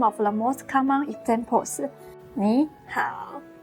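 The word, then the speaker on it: 你好: When two third tones are put together, the first third tone changes into a second tone.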